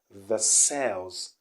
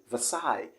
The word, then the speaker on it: Versailles: the psy okay and the s here isn't pronounced do you understand okay so it's gonna be the side so you can see any at the end so what we have is okay versailles and not the cells